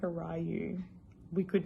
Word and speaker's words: Ryu: those of you who don't know how to pronounce his name it's ryu uh i think it's japanese but it's pronounced